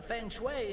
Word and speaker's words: Feng Shui: No disrupting the feng shui in here. Feng Shui, so wird es ausgesprochen.